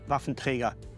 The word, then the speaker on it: Waffenträger: And when I hear myself saying Waffenträger, it sounds actually very odd to me. I should say Waffenträger. That's the only way how to pronounce it.